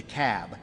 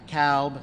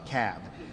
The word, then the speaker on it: Cobb: the room it's the cab not the cowb not the cob it's the cab so we got to pronounce these things doherty another one of those where albini is they're 74.